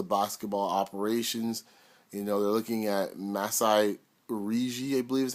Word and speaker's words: Masai Ujiri: They're looking at Masai Ujiri, I believe is how you pronounce it, from Denver, the young GM there.